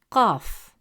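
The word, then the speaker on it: قاف: C in come deep except that in Arabic calf is always light and soft pronounced from the front of the mouth. While cough is always deep and heavy, pronounced from the upper part of the throat.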